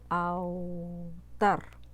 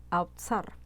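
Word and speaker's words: awtsar: Porque la palabra hebrea para gobierno es la palabra autar, autzar. Es A-W-T-S-A-R. Es medio complicado para pronunciar.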